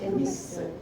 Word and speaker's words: Nissl: ¿Cómo se escribe eso? Nissl.